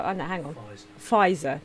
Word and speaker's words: Pfizer: person turn up for fitzer vaccine uh how i know hang on fizer that's how you say it thank you if it's